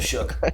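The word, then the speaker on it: Shough: Tyler Sha did not. Is it Sha? How do you say it? I always get it wrong. Yo, just speak. It's Tyler Shook.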